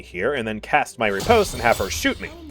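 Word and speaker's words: riposte: Skill expression really is the name of the game, because his next ability is called Reposte. Yeah, that's how you pronounce it.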